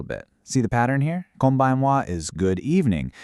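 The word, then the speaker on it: こんばんは: Kombanwa is good evening. We went from konnichiwa to kombanwa. That kon sound stays the same, which kind of gives you a clue, doesn't it?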